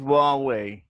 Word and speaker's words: Huawei: Danny, the name is Huawei. Huawei? Okay, Huawei.